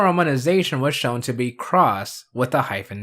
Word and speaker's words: Cross-Z: I've seen countless times at its cross with a silent Z and not claw I've